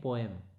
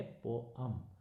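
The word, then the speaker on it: poem: Okay, सभी बच्चे याद रखेंगे, इसमें एक शब्द है जिसको हम नॉर्मली बोलते हैं पोएम। उसका रियल प्रोनाउंसिएशन जो है वो है पोअम। क्या बोलेंगे इसको, पोअम। पोएम नहीं बोलेंगे, क्या बोलेंगे, पोअम बोलेंगे।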